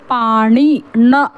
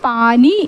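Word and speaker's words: पाणी: പക്ഷേ അത് പറയാൻ നേരത്ത് പാണി ആണി എന്ന് പറയുന്ന അതിൻറെ ണ എന്ന ഉച്ചാരണം വേണം വരാൻ പാണി എന്ന് വേണം ഉച്ചാരണം വരാൻ പാനി എന്നതല്ല അത് ഒരു തെറ്റാണ്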